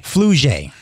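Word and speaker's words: Flau'jae: Flujay.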